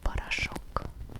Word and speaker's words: порошок: Three letters all in one word. Meaning two of them will sound like a. The last one is stressed. So the last one sounds like the other one sound like um parach meaning powder coach.